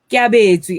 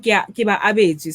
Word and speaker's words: Kiabezwi: Kiabezwi. Oh, sorry. I was reading Kiba Abezwi. Sorry.